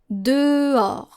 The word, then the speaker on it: dehors: Dehors. Dehors. So you can go like de, like the number 2, de, and then or, gold.